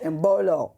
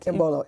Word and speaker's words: Imbolo: You're saying it wrong. So, Imbolo. That is right. Imbolo.